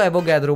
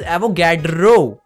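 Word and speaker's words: Avogadro: अब भाई पारस ने रीड करना चालू किया कि पारस ने उसको एवोगाद्रो बोला, वो मैडम बोली इट इज एवोगैड्रो। पारस बोला मैम मेरा प्रोनाउंसिएशन ऐसा ही है, मैं एवोगाद्रो ही बोलता हूँ, क्या दिक्कत है, आगे बढ़ते हैं।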